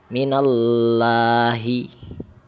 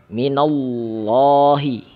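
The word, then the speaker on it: مِنَ اللّٰهِ: Example, contoh yang salah. Minallahi. Seharusnya minallahi. Minallahi. Allahnya dibaca tebal ya, lamnya.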